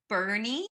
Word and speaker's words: Boerne: It's going to take place in a town called Boerne. Like Bernie Sanders.